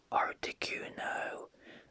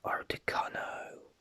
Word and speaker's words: Articuno: comments for this one i pronounced articuno as artecano at some point also